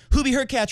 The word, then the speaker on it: Hurkacz: They said, hey, Hubie Hurkacz rhymes with Latch and Danny Medvedev.